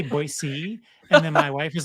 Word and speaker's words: Boise: also spoiler alert hayley is not originally from boise so she moved there too so a little